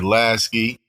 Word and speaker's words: Lasky: word g what's the word it's your boy lasy last time I didn't even say my name so focused on the intro I say my name so it's lasy you feel me big CT on over there